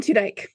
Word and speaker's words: Tudyk: Alan Tudyk.